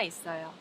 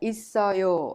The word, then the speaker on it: 있어요: And we've seen throughout this unit that 있어요 is pronounced 있어요. The final consonant double S in it of 있어요 is prolonged and connected to the next syllable 어 and becomes 있어요.